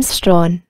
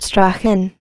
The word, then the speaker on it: Strachan: side note we know Sir Richard pronounced his surname strong and not Strachan this is from a dog girl verse printed in 1809 after the field Walter and expedition in Flanders Sir Richard Strawn was in command of